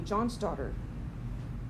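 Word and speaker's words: Johnsdotter: And if you were a girl, your last name would be John's daughter because you were John's daughter. It's pronounced the same, but it was D-O-T-T-E-R, make it look more Scandinavian.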